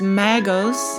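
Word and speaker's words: μάγος: Blue Letter Bible, and that word is Greek, and it's pronounced magos, and it means a wise man or sorcerer.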